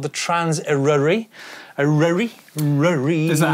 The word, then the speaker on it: Traws Eryri: Traws Eryri. Although, obviously, some people in different parts of the country will pronounce it differently.